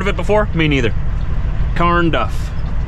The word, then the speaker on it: Carnduff: Carnduff. Not corn, Carn.